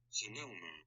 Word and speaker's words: Sonoma: Or how you pronounce this particular shoe. Ready? Sonoma.